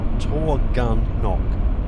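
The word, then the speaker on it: Taughannock: colours as we headed towards our first stop, Torgunnock State Park, and apparently that is how you pronounce it, Torgunnock.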